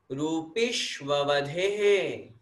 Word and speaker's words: रूपिष्ववधेः: रूपिष्ववधेः, बोलिए, रूपिष्ववधेः। वधे बोलना है, रूपिष्व वधे नहीं बोलना। रूपिश आधे श तक उच्चारण, फिर उसके बाद में ववधे है, रूपिष्ववधे है।